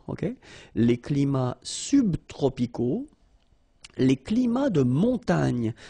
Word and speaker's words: climats: So you can see that even if we've got the plural form here, S, we don't pronounce the S, and then we don't pronounce the T either.